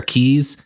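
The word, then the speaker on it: Cay: Even though I have been to many places that are keys and I know it's supposed to be pronounced key.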